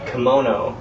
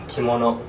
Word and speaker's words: kimono: as sounding you pronounce pronounce all the syllables um in the way that you pronounce Japanese uh syllables so instead of you know I being uh I it's e right you know and if you studied any foreign languages before you know that most other languages in the world pronounce i as e so English is weird